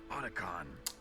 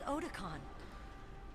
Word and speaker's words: Otacon: Otacon.